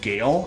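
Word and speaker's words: GeIL: supposed to pronounce this Gail I was told by someone that works with them so I think most people would say G but Gail might be the right way to say it and this is Orion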